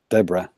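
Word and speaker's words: D'Vorah: I don't know who Devora is though. She was in Mortal Kombat 10 or X. Yeah, she's the new one. It's pronounced Insect Deborah, Lady. actually. Deborah.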